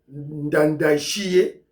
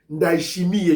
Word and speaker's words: Ndayishimiye: L'activité principale, c'est la visite officielle du président burundais, Ndayishimiye, prononcer comme on a été, Ndayishimiye, je crois, Ndayishimiye, qui est venu, voilà, à Kinshasa, en visite officielle, apparemment, de 2 jours.